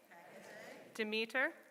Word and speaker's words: Demeter: So before we begin, I'll give you the quick pronunciation lesson. Isis, Astarte, Diana, Hecate, Demeter, Kali, Inanna.